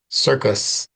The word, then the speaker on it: circus: It's either going to be the K sound, K, or the S sound in this case, S, and the K sound, K, circus.